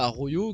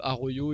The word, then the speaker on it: Araujo: Et puis il y a Arroyo qui comme d'habitude, Xavi c'est habituel, à chaque fois que le Barça joue le Real, Arroyo joue latéral droit.